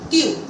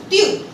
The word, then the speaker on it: tu: Like, now you understood that letter T and D has a soft pronunciation. So you are supposed to use this in a softly way. For example, tu.